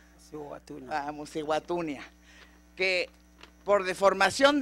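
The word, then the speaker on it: Mosi-oa-Tunya: Yo solo conozco de su país una de las maravillas naturales de este mundo, que es, me dice si lo pronuncio bien, Mosihuatunia. Mosihuatunia.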